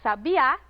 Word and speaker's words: sabiá: não mesma posição mas a palavra sabiá é oxítona e a palavra sabia é paroxítona aquelas mudaram completamente de sentido